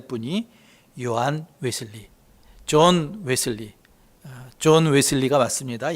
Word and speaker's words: 존 웨슬리: 근데 우리 감리교인이라면 꼭 기억해야 될 분이 요한 웨슬리, 존 웨슬리가 맞습니다. 옛날에는 요한 웨슬레 성경대로 했는데 그쪽 발음대로 하면 존 웨슬리입니다.